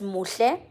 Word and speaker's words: Muhle: So my name is pronounced as Muhle. I think Dre did say this to you, but it's Muhle MGT.